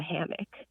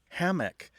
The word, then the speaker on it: hammock: Hammock tends to have a stress on the first syllable, where hammock tends to have a stress on the second syllable.